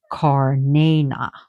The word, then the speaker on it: Cernunnos: So Cernunnos means the horned one. But he is antlered. Oh, be quiet. And as Alexander's pronounced him as Karnana, Karnayna, again, simply meaning the horned one.